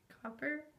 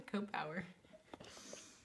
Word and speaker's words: Cowper: uh literally literary analysis William cowers is how you say his name copper copper I always say Coop power okay just William